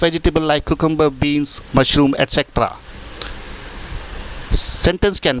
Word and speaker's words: etc.: एक्सेट्रा? नो. इट इज एटसेट्रा.